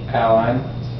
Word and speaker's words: align: d sign for design align a line a line good yes you pronounce that